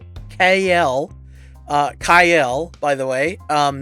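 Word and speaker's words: Kael: by the way um not kale um probably not going to call him that i'm probably just going to continue calling him kale but dark kyle um yeah we've been saying it wrong this whole time uh he he's dark kyle well the other two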